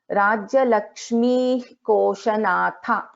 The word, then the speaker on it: राज्यलक्ष्मीः कोशनाथा: So after Visarga, if there is Ka, then we pronounce this as Rajya Lakshmi Koshanatha. So we will not pronounce, we will not chant full Visarga here.